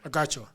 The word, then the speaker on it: Agacho: Agacho. Right? That's how you pronounce it. Yes, sir. Agacho.